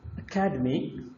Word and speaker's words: academy: Stress is on the second, but here stress changes to the third, academic.